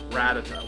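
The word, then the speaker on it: Rattata: think rat attack how what is the exact pronunciation cuz I've been call rata ratata that's it ratata well there's a ratata why does he get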